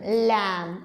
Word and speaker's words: lamb: will remain silent here the B will remain silent only will going to make the sound let's see the words लम okay this word also we can take थ अ थम okay and these are